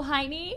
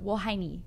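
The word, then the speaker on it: 我爱你: oh, Heine? No, Wohaini. Oh.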